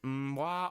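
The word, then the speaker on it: わ: And this one is just pronounced wa.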